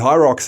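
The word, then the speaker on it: Hyrox: But Hy Rocks is spelled H Y R O X.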